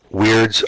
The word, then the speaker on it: wyrd: a burning sphere yes weirds are spelt that way they are i you know they're still pronounced in the traditional word weird okay but they're spelt with a y okay and a magical